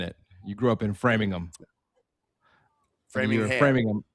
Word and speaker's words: Framingham: You grew up in Framingham.